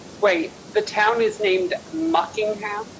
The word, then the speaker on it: Muckingham: Wait, the town is named Muckingham? Yeah, Yes. as in Buckingham Palace.